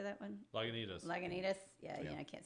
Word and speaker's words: Lagunitas: into us how do you say that one Lagunitas Lagunitas yeah yeah I can't say anything fancy